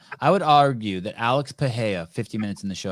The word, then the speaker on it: Pereira: I would argue that Pereira's what did you how do you pronounce his name, Val? Pa. Pa. I would argue that Alex Paha 50 minutes in the show, I finally got his name right.